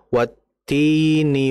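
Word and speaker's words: وَالتِّينِ: Fokus pada huruf-hurufnya yaitu tadi contoh wattini wazzaitun. Tinya dibaca panjang. Watini wazzaitun.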